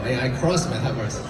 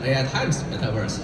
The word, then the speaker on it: AI X Metaverse: So how to pronounce X? Originally, I was thinking of AI cross Metaverse, like a crossover. Neil suggested, we probably should call that AI times Metaverse.